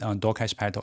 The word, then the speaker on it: Dwarkesh Patel: His name is pronounced Dwarkesh Patel.